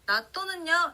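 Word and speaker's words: 納豆: 자, 나또는요, 일본어로 해도 나또 그대로인데요. 자, 타행 앞에 왔기 때문에 시옷 받침으로 해주시는 거 주의하면서 같이 한번 따라해 볼게요. 나또, 나또.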